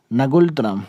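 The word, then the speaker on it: ngultrum: Right answer हो जाएगा नगुलतरम। ठीक है, इसका हिंदी में प्रोनाउंसिएशन कुछ दूसरा बनता है और इंग्लिश में दूसरा, तो आप इसका नगुलतरम याद रखेंगे।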